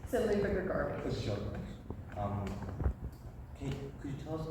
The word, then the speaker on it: Luba Grigorovitch: So Luba Grigorovitch.